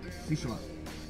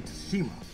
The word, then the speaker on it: Tsushima: I think that's how you say it, Tsushima. I used to say Tsushima, but apparently the T is silent.